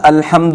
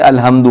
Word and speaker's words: الحمد: آ رہا ہے نا، الحمد میں حمد، حمد کی جو ہا ہے، عموماً لوگ اس ہا کے تلفظ میں غلطیاں کرتے ہیں۔ عموماً جو خواتین خاص طور پر یا جو مرد تجوید سیکھے ہوئے نہیں ہوتے وہ یہاں غلطی کرتے ہیں، کہتے ہیں الحمد، الحمد نہیں پڑھتے بلکہ الحمد پڑھتے ہیں۔